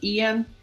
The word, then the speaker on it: Ian: Ok, estoy pronunciando tu nombre bien, tu nombre, Ian.